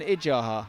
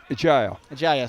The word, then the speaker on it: Ijaya: You've got an Adjaha and Ijaha in the team. Ijaya. Sorry, is that how you say it? Ijaya, Yeah, okay.